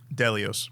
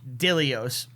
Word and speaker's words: Dilios: So now the one-eye dude, Delios. Dilios. Delios. What's a dilio? Yeah, that's where it comes from. D-I. It is D-I. Isn't it Delios? D-E-L-I-O-S? D-I-L-O-S. Oh, okay, you're right then.